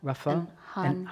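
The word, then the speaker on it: Rafah: let I asked Joe to help me with pronunciations but these are new there it's Raa Rafa hunas that's right hunas okay uh these conflicts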